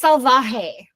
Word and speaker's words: Salvaje: It's Salvaje. Salvaje. Got it. Salvaje. So I was just saying it right. You were saying it right the whole time.